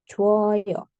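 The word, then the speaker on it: 줘요: ditambahkan Oyo He nah vokal yang bertemu di sini adalah o ketemu sama o eh sori u ketemu sama O ini akan berubah jadi wo maka cuoyo ya Jadi bukan ju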